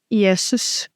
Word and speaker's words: Jesus: Yesus.